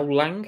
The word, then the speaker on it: Lang: bowen mark marcus taran now lang is that how you say it not lying yeah um hasn't had